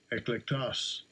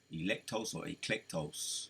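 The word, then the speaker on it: ἐκλεκτός: Let's see how they say it. Strong's G 1588. Eklektos. Eklektos. Electos. Electos. Electos or eclectos, right?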